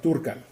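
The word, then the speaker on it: Dúrcal: Actually, I think it's pronounced Durcal.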